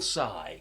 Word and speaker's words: Tsai: we've got Trace by will saigh yeah because the tea is silent yeah we've worked that